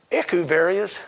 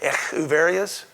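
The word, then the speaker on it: Echeveria: Aeoniums, agaves, aloes, crassulas, echuverias, that's an H, not a K, echuverias, euphorbias, haworthias, kalanchos, and sedums.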